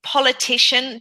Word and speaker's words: politician: There's a bit of a po in your pronunciation, po, and it's that o sound is the short vowel sound is an oh.